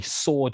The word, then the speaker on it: sword: it so the reason we say sword today without the w in it is because we want